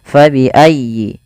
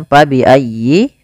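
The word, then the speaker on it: فَبِأَيِّ: Fabi'ayyi. Di sini fa harus dialirkan, jangan sampai diganti dengan p. Jangan diganti dengan pa bi ayyi. Nah, jangan. Tapi kemudian dia bacanya dengan huruf f.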